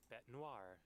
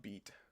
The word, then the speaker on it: bête noire: Bête noire. Bête noir is apparently how you say it. It's not beat. Or bait, or whatever I thought it was.